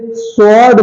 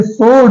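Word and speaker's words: sword: रहा है अगला है इसे स्वर्ड बोलते हैं इसे सवार्ड नहीं बोलते सवा डब्लू से वा नहीं इसे सोर्ड बोलते हैं सड सड मींस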